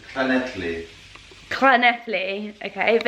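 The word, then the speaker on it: Llŷn: It's Llyn. Llyn, okay, but it's spelled like the Nelly.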